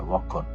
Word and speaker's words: ভক্ষণ: ভক্ষণ।